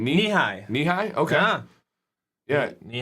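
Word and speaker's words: Nehi: it before how do you say that name knee high knee high okay yeah knee high doesn't say or something like that okay it sounds like japanese to me you know it corn growing knee high by the fourth of july oh yeah i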